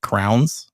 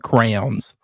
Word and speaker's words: crayons: would come out and it would sound like crowns. Like that's how I typically say it, but crayons.